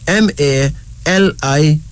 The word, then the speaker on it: Maliki: M-A-L-I-K-I, pronounced as Maliki.